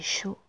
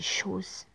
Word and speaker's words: Jaws: Et après, j'ai regardé, j'ai tapé Show. Enfin, je prononce mal, mais le titre original, c'est Jaws, Jaws.